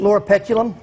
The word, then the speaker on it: Loropetalum: It's spelled Lorapet. Loropetalum?